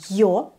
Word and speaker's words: Ё: La voyelle Yo donne 2 sons. Y et O. De la même manière que Y, c'était Y plus E. Ici, on entend Y, O, Yo.